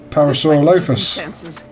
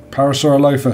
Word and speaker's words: Parasaurolophus: Parasaurolophus. See that one? She's the lookout. That's how Pete Postlethwaite pronounced it.